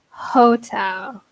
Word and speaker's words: hotel: we use the her hotel yes very good we pronounce the H Hotel good excellent the